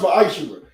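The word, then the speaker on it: Ma'aser: means tenth in Hebrew and is pronounced ma'ashera.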